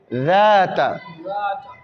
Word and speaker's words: ذات: J'écris Z, mais on doit dire Zata. Peut-être que je mets un point ici pour faire la différence. Zata.